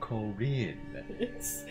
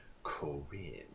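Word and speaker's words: Corrin: He accents the second syllable of the word. So of course he's going to call him Corinne.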